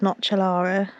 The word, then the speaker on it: nocellara: Italian, I think they said they're pronounced nocellara olives.